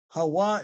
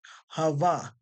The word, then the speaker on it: Hawa: Hawa is not pronounced Hava. There's no V sound in the Hebrew language.